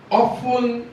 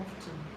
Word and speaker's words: often: A number of individuals often debate that Sir, is that word often or often? there's the T silence in English. Often. No, the T silence. Often.